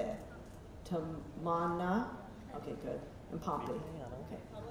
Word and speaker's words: Tamanna: Tamanna, okay, good.